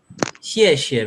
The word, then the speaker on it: 谢: Xie, very good.